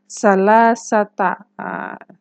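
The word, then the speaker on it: ثلاثة: itu apa salah satu tapi kalau untuk bilangan belasan sampai puluhan harakat tak marbutahnya jadi fathah salasata satuannya dulu baru belasannya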